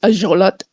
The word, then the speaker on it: axolotl: That's actually how it's pronounced in Nahuatl. Axolotl is actually pronounced ajolot.